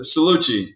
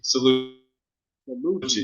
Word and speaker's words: Cellucci: Cellucci. Cellucci. Right. And I know it came out wrong. Yeah. It's all good. No hard feelings. Usually tell people it's like sell Gucci. Just put them together. Cellucci.